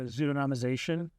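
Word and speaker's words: pseudonymization: Are there other No, those there are some uh so um there's zudonomization. I think I I think I pronounced that right. Yeah. Like um a pseudonym very it's it's a very long I I always use tokenization.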